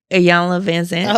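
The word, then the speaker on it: Iyanla Vanzant: And I heard a Yala Vanzant say grief is such a powerful teacher. How you say her name? Ayana Vanzant.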